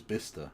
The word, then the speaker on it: Bicester: Yeah, but Bicester is Bister, yeah.